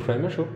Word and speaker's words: Przemyśl: Isn't it Przemyśl? No, Polish people told me it only has 2 syllables, and they only laugh when we Westerners try to pronounce it with 3 syllables. So basically, Przemyśl is the Austrian version of Przemyśl.